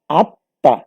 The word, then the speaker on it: আত্মা: আমরা এমনি ভাবে দেখি আত্মা যদি লিখি তাহলে ঠিক আত্মার মধ্যেও দেখা যাবে যে তয়ের সাথে একটা মফলা আছে, সেই মফলাটা উঠে যাবে। আমরা উচ্চারণে তখন লিখব আত্মা সরায়া তো তয়াকার, এবং এই তয়ের উপর চন্দ্রবিন্দুটা হবে।